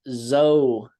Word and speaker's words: Zoe: I did notice uh your name is spelled Zoe but it is zo yeah proun zo all